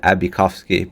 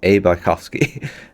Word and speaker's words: bosski: up his username and I've always pronounced it abovsky but it's actually Anthony bosski so it's a bosski um and then following